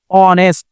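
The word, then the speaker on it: honest: এখানে আমাদের সাউন্ডটা বর্ণটা কি আসছে এইচ এর উচ্চারণটা সাউন্ডটা দুইভাবে হয় একটা অর্থে আরেকটা হ অর্থে যখন অর্থে হবে অনেস্ট এখানে ক অর্থ হছে অর্থে যখন অর্থ হবে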